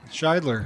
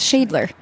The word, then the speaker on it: Scheidler: But I never knew that's how you pronounced your last name. Scheidler. Scheidler. I thought it was Shadler.